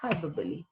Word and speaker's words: hyperbole: or show emphasis hyperbole now you have to be careful with the pronunciation because the spelling is different but the pronunciation is hyperbole is an unreal exaggeration